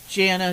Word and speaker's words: Jana: Is that how it's pronounced, Jana? Jana.